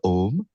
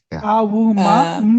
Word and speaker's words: Om: the person kundalini awakening they chanted om but it is not om. The it is regarded it is regarded as akara ukara makara. Exactly. That is four syllables. A U M But but actually but